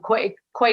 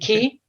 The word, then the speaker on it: Quay: We have a wonderful story about the, I'm going to say it wrong, Quay Co-op in Cork. Is it Key? Key Co-op? Oh, God. QUAY, is it? Co-op. Right? Yeah. Key Co-op, yeah.